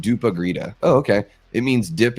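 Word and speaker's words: dopp i grytan: My family does a traditional Swedish Christmas dinner called dop I grita, pronounced dupa grita.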